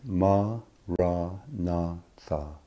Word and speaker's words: maranatha: Say it as 4 syllables of equal length, ma, ra, na, tha.